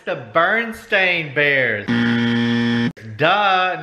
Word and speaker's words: Berenstain: I think and here oh I've been saying it wrong this whole time it's Berenstain no baron there's no way BER II and Baron there's no and I think